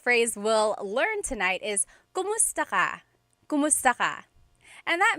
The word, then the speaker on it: kumusta: If you hear my pronunciation and then other people, when they say it, usually they say kamusta ka? Kamusta ka? So it sounds like it's spelled with a letter A, K-A-M, but technically it's spelled with a K-U-M. That's like the correct spelling of it. But the pronunciation usually is kumusta ka?